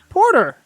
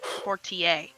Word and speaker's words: Portier: "Porter." Wait, what? Portier. Portier. That's how you say it. Portier.